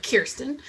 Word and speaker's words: Kirsten: a wonderful pronunciation of kirsten uh which i always tell people rhymes with cheer uh which is associated